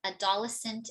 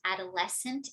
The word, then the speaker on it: adolescent: So top 3 misstressed words, okay? Development, adolescent, and hotel, which should be development, adolescent, and hotel.